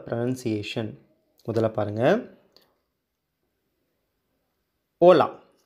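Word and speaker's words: hola: முதல்ல பாருங்கள், ஓலா. அது வந்து நான் சொல்லியிருக்கேன் ஹெச் அதை உச்சரிக்கக்கூடாதுன்னு சொல்லியிருக்கேன். ஓ இல் ஓல் ஆ, ஓலா. இப்போது இல்லு கூட்டல் ஆ தான் பார்க்கணும், லா. ஓ லா, ஓலா அப்படின்னா ஹாய் அப்படின்னு அர்த்தம்.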